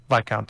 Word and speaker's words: Viscount: Viscount. Yeah. Okay. There's an S here, so I'm having a bit of trouble. Yeah, I didn't but- know either. The S is silent.